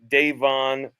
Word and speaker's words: Davon: it's just everybody on the record, Davon is how you pronounce it.